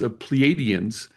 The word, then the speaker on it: Pleiadian: and this girl gang is Pleiadians, and I just found out that it's pronounced Pleiadian, Oh, and I've Pleiadians.